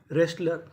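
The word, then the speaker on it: wrestler: Right retain wrong रेसलर। तो rule क्या था? अगर आपको आर से पहले डब्ल्यू लिखा मिले तो हमें डब्लू का उच्चारण नहीं करना।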